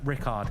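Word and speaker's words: Richárd: reports I call him Richard I call him I call him Richie that's his nickname Richie as well I don't know but Rickard is the correct pronunciation he's playing against Duda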